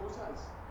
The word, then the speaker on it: Osaze: Oh no, your pronouncing name is Yeah, sorry, was it Osaze? Oh yeah. That's okay. Osaze, the other question was the Celtic qualifying for